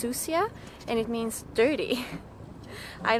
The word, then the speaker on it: Sucia: to an island called susha Island it's actually a Spanish word and it's pronounced susia and it means dirty